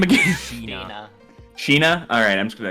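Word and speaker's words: Shih-na: Sheena. Sheena? Alright, I'm just gonna... Okay. But Sheena currently is tied to the smuggling ring.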